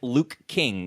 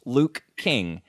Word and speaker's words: Luke King: you know it's two so it's two syllables Luke King they kind of run they run together if you say them too fast it sounds like looking and so what could